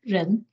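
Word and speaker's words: 仁: of humanity or benevolence in Chinese pronounced as Ren um so this is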